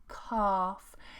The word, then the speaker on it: calf: Again, a long R sound. Calf.